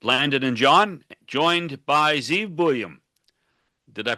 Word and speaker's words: Zeev Buium: Welcome back to 100% Kucks with Landon and John joined by Zeve William. Did I pronounce that right, Zeve?